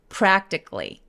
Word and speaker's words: practically: Practically, 뭐 academically 이런 단어들 되게 많을 텐데 단어 뒤에 칼리라고 발음해야 될 것 같이 써있는데 사실은 A를 완전히 무시해버리고 K-L-Y처럼 발음합니다. 그래서 practically, glee, glee. 마지막 C-A-L-L-Y는 어떻게 발음한다? Glee, glee 이렇게요. 그래서 practically, practically.